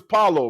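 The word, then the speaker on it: Paolo: You trying to make everything Spanish? Name is You know, Pablo. Pablo. Come on, man. The man's name is Paulo, man.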